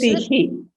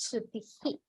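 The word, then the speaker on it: श्रुतिः: You missed pronouncing the visarga. Yes. So, yeah, so it is Shrutihi. Yeah, Shrutihi. It's not Shruti, but it is Shrutihi.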